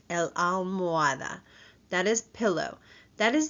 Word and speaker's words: almohada: La almohada. The H is silent. El almohada.